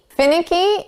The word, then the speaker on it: finicky: Fin, ick, e. Now, we're going to put the syllable stress on the first sound. Fin, finicky.